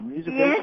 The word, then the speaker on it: Musivation: In addition to creating the Musivation, did I pronounce that right, Michelle? Musivation?